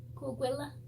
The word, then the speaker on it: Coahuila: to pronounce the name, it was Coahuila, not Willa, hang on, because there was only one out, so, Coahuila, I think that's how you say it, tribe.